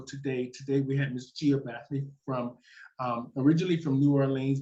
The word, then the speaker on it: Gia Barthory: Because I can't pronounce it. And she's sitting over there about to fall out. My name is Gia Barthory.